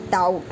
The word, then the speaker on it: doubt: And b is also silent before the t, like doubt.